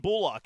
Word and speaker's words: Bullock: He's like, it's Kalen Bullock, and it resonated with me. I was like, that's a weird way to say his name. And then when the season started, everybody was saying Bullock, and I'm like, all these people are saying it wrong.